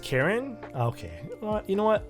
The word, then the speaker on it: Charon: this this is cool it's pronounced karen okay well you know